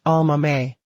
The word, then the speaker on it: Aomame: Written with exactly the same characters as the word for green peas and pronounced with the same 4 syllables, Almame.